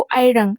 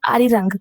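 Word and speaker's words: 아리랑: क्योंकि जो फॉरेनर्स हैं, जो यूरोपियन हैं, अमेरिकन है, वो अरिरंग नहीं बोल पाते हैं। वो अरिरंग ऐसे मतलब अजीब बोलते हैं, जबकि रियल प्रोनाउंसिएशन है अरिरंग।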